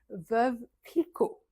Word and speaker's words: Veuve Clicquot: Veuve Clicquot. Veuve, veuve. Le E final, en général, on ne le prononce pas trop en français. On ne va pas dire veuve, on dit veuve.